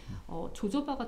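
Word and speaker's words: jojoba: 그래서 이동해 준다라고 하는데 코코넛이나 조조바나 지성 피부나 탈모인들은 조조바가 좀 좋아요. 조조바가 조조바라면 인체 흔히 호호바 오일이라고 맞아요. 알려진. 같은 말이에요. 영국식 발음이냐 호주식 발음이냐에 따라서 네. 다른 건데 네.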